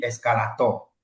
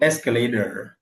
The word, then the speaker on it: escalator: Et la lettre T, souvent les gens là, ils flappent ça. Ça ne devient pas to, ça devient do. Do ou bien R. Donc escalader. Escalader. Escalader.